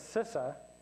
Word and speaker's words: CISA: auditor which I am everybody calls sisa in the in the business that's two syllables but if you don't know that it's sisa you'll say C IA